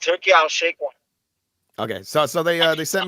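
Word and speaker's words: Turki Alalshikh: Allah Sheikh, whatever. Allah Sheikh. Come on. Wait a minute. It's pronounced Turkey Al Sheikh one.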